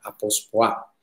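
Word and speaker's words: ἀποσπάω: Sí, la palabra separarnos, que está en este versículo 1, en el original en griego del Nuevo Testamento, es la palabra apospoa, con acento en la apospoa.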